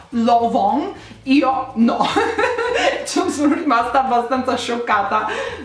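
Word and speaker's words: Lanvin: c'è qualcuno di voi che sapeva che si pronuncia l'on io sono rimasta abbastanza scioccata non quindi tutti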